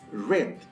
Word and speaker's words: read: the verb read but in the past participle form we read it as red exactly as the red color red so this is book